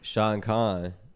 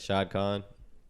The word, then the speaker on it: Shad Khan: Essentially, Shad Khan, right? Shad Khan. Be saying his name wrong. Yeah. You said it right the second time.